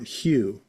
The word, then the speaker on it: Hugh: Well, just think of the color hue.